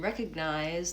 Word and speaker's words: recognize: And recognize, the G is silent. Yes, recognize. Actually, no, it's not. Recognize. I have to go to the G before I go to the N. Recognize. I use a stop G there, so I'm not saying recognize.